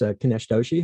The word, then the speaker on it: Kinesh Doshi: we're very excited to have as our guest kanesh doshi who is the ceo of axion labs did i pronounce that correctly good good thank you for